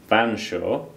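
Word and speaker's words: Featherstonhaugh: valley whatever the history of featherston hall now usually pronounced banshaw we can safely say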